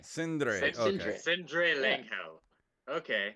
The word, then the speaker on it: Sindre: Cinder Langhel. It's not bad. It's not bad. But think of it as Andre, but Sin. So Oh, it's Sindre. Sindre.